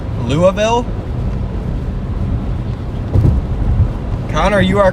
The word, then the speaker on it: Louisville: 3 years old there's no way it's pronounced Louisville I've literally pronounced it Louisville since I was like 3 years old there's no way that's that's right louville all right well I